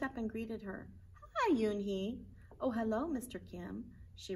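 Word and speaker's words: Unhei: she nodded slowly yes it's pronounced yoon he and it means grace mr kim added uni joey said slowly and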